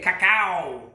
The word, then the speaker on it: cacao: Next ingredient, creme de cacao, or however you say it. It's spelled C-A-C-A-O, so I believe that's cacao.